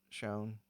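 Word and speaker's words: Chão: Anyway, so, and then I'd mentioned Fogo de Chao, and he was like, it's pronounced Shone.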